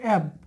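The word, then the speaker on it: have: শুডের পরে হ্যাব আছে, হ্যাবটা পুরোপুরি উচ্চারণ হবে না, এটা হবে অ্যাব মানে এই অ্যাব হবে অ্যাব।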